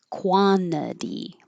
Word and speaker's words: quantity: When the t is after the n and it's in the unstressed syllable, it's okay to skip it. This is quantity.